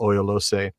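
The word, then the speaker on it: Oiolossë: um and and you know and my terrible mispronunciations of the mountain that i now call oyoloce you can say of course i've got it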